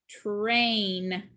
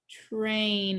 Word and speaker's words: train: has digraph a i the a is long and the i is silent this word is train train is our last picture